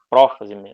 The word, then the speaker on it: prófase: desses nomes também então profase prometafase metafase anafase e telofase a pronúncia costuma variar em português a gente fala prófase eh metáfase anáfase telófase eles mudam a a vogal tônica mas é basicamente a